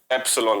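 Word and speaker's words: epsilon: इसका प्रोनाउंसिएशन क्या होता है? एप्सिलॉन होता है।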